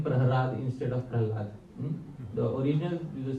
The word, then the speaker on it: Prahlad: The hidden meaning is that in the Sanskrit language there are 2 syllables which are interchangeable. La and Ra. Which two syllables? La, Ra. So sometimes you will see in Srimad Bhagavatam the spelling Prahlad, sometimes you will see Prahrad. Yeah, you will see both spellings in the Srimad Bhagavatam.